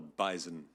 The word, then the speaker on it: bison: that is called the bison. It is. It does have a Z.